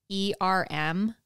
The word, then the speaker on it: erm: In England, that's their E-R-M is erm.